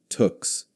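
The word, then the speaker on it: tuque: Woolen hats that Canadians called tux pronounced like tuks that pulled down over the ears and could be rolled up or down depending on how cold it was.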